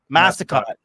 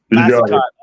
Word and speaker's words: Massicotte: And I pronounced that right, Mike, this time? Massicotte. Massicotte. Yeah.